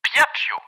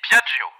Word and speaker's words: Piaggio: Piaccio. Pardon? Je vais dire guêpe. Guêpe. Ce n'est pas le mot que vous avez prononcé, malandrin. J'ai dit Piaggio.